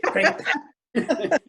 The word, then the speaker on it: Crépin: Oh, here's the Histoire de Monsieur Crépin. Yes, exactly. So now, when you say that, you got to say it like the French do. You spit on you when you say Crépin.